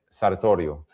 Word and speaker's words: Sartorio: Julio Aristid arrest actually if I try to do the Italian pronunciation mat but uh Julio Arist Sartorio.